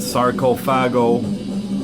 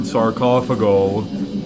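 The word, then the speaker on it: Sarcophago: how you want it I've always pronounced it sarcophagi I've heard sarkoff ago I think the band even says sarcophagi the first album in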